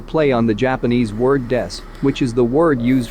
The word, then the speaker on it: です: on the Japanese word des, which is the word used for introducing yourself, like saying I am or we are. By simply mispronouncing Su Metal Des, by saying Su Metal Death, they have a cute